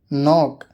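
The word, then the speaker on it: knock: के, जब एन से पहले के आता है तो वो के साइलेंट होता है, अक्सर शुरुआत में होता है। नो जानना, नी घुटना, नॉक खटखटाना, नॉब कुंडी, निट बुनना।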